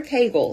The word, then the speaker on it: Kegel: me here it is time to talk Kagel or Kagel is actually the correct pronunciation so we are doing